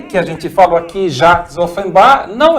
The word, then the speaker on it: Jacques: Só que ele mudou o nome para Jacques, em francês não se pronuncia S, Jacques, e Offenbach.